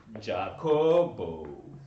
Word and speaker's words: Jacob: name jacob back home jacob is a name given to oh donkey's only and it is pronounced as jacobo i come from a